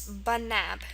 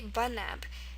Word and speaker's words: banab: The only tricky thing is that the schwah is an e.